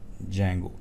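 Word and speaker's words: Django: है वह है बेसिकली जंगो इसको लिखते इस तरह से डी जंगो ठीक है लेकिन इसको पड़ा जो है वह जैंगो जाता है डी जो है बेसिकली व साइलेंट होता है यह बेसिकली है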